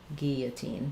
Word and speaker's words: guillotine: So we don't say the L sounds for guillotine, and the letter U is silent.